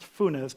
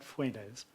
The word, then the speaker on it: Funes: you saw the picture of jose funes it's pronounced funes not fuenese um we are a dozen jesuit scientists with